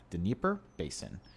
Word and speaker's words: Dnieper Basin: It's Dnieper Basin.